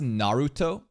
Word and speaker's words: Naruto: see how I pronounce narut it's a very soft R but the Japanese way of saying is narut narut narut I don't